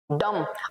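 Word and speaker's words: dumb: very beautiful is graceful डम अब इसको डम बोलेंगे भाई डम ब नहीं बोलेंगे ठीक है ये जो ब है वो है साइलेंट ओके लास्ट वाला है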